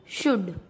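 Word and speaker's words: should: डी से पहले एल वुड, डी से पहले एल शुड।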